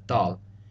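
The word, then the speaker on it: ذال: Now, the pronunciations for dal and thal are very similar. Dal is a D sound, where thal is like a TH sound pronounced more like a D.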